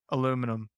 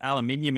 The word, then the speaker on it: aluminium: love aluminum so like we call that aluminium in australia i was actually watching something that they proved that that's the appropriate or the correct pronunciation based on the based on the origin of the word it sounds like you